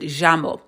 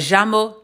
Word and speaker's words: llamo: and then other times it can sound like more of like a j sound, j. So, but I'm just teaching you the most common way. My job is to teach the most common way in South America, but I'm just saying some Spanish speakers pronounce it llamo. But llamo, llamo, either way you say it, it's still correct.